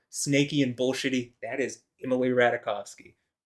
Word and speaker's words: Emily Ratajkowski: I just, I'm gonna say it like it's spelled. I'm getting tired of trying to fucking correct myself. So Imrata, if I say Emily Ratajkowski, well, welcome to English, where we don't say a V for a W, and SKI is pronounced ski, not ska. Anyway, yeah.